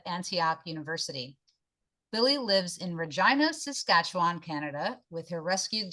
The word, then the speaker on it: Regina: But that's, we help people through that little problem by saying that, we live in this city that rhymes with fun. They're right. Okay, it's Regina.